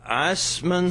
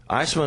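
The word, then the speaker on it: Eisemann: So it's at 12:30 at the Eisman Center. Eisman is spelled funny. E-I-S-E-M-A-N-N. Yeah, it's a German thing.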